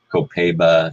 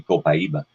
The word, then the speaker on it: copaiba: know of it and you pronounce it different ways copaiba co-pay ba you know there's many different ways that if we do it correctly from South American Spanish it would be copaiba and interestingly enough I